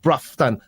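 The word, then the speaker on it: Broughton: is there and it that's how it's spelt but it's pronounced bruffton don't ask me why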